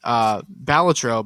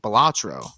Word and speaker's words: Balatro: I've been pronouncing the game Balatro, but he was pronouncing it Balatro.